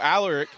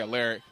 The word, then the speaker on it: Alaric: So, all Alaric, that's how you pronounce his name. People say a lyric and he's done that his whole life where he corrects people.